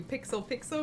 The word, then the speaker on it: Pixel x Pixel: everyone you're listening to pixel pixel where the x is silent but our love for